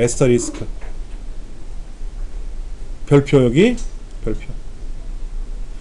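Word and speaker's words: asterisk: 그걸 에스터리스크라고 읽어요. 에스터리스크.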